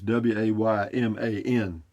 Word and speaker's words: Wayman: It sounds like I'm mispronouncing Raymond, but his name is Wayman.